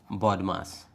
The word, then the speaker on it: BODMAS: But did you know that there is a rule that is pronounced as body mass?